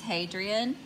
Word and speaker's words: Hadrian: And second on my list is It's Hadrian. It's spelled just like I said it. It's Hadrian.